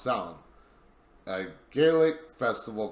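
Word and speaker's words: Samhain: now that looks like champagne but it's actually pronounced sound a gaelic festival called silent or festival of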